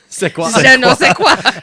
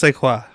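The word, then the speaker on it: Szwarc: the cesan of theaa that's how you pronounce his last name seaqua his name is Janos sequa so she summons the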